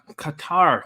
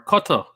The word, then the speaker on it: Qatar: to them whoa whoa we got qatar our cutter as we should really be pronouncing it this is amazing stephanie